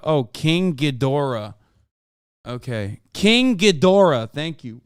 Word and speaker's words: Ghidorah: You're supposed to pronounce the G in Ghidorah. Oh, King Ghidorah.